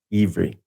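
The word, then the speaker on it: עברי: Yeah, it's pronounced Ivri by modern people.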